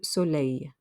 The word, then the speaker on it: soleil: sunglasses de lunette du soleil that last l makes a y sound the e i l makes a y sound de lunet du soleil a tie in now